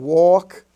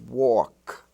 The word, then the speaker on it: walk: have talk and walk where the a is pronounced like the a in all talk and walk even though it's in the milk and silk family it's talk and walk as if it was spelled t-a-w-k or w-a-w-k walk now in lesson 51